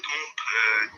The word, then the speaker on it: temps: Combien de temps? We don't pronounce the P.